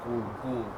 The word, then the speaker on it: Gould: So you you pronounce it as good. Okay. Not cold. Not cold. It's good. Yeah. And it's the but with a G.